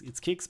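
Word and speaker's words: Qix: By the way, it's pronounced like it's Kix, but it's written Q-I-X.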